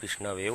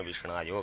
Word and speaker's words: विष्णवे: आप विष्णवे बोलो, चाहे अशुद्ध उच्चारण विष्णायो करके पूजा करो, कि द्वयोरैव समम पुण्यम, दोनों का समान पुण्य फल मिलेगा।